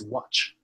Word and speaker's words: watch: But what you want to say is watch TV. So you have to stress on the CH at the end.